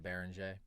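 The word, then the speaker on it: Beringer: And so yeah, I did like the the bearing a how do you say his name, bro? I'm struggling. Being bering. I'm gonna have to get on my French grind like Carson. Say just Baron.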